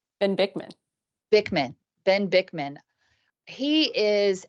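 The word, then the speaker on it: Ben Bikman: I think that anything with Ben Birkin on it, I think, did I say his name right? Ben Bickman.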